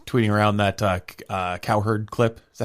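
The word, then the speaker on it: Cowherd: Did you see Did you see uh Funhouse tweeting around that uh uh cow herd clip? Is that how you pronounce it? Colin Coward.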